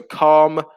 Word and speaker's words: calm: have been mentioned so calm with a silent l camera with a silent